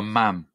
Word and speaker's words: ma'am: No, you call her Ma'am. Ma'am. Ma'am's rhyme with jam.